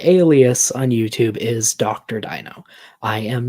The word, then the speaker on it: Deino: He debated Dok Deino, so it was kind of a dino versus dino kind of a situation. Although his is like dino as in dinosaur, and yours is dino as in Deinonychus, I think it is.